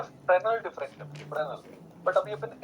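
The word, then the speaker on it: Fresnel: Fractional जब हम बोलते हैं ना तो उसमें एस प्रोनाउंस नहीं होता, इट इज फ्रेनल, है ना?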